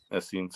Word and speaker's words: Essenes: Am I pronouncing that right? Is it Essene? Yeah, Essenes.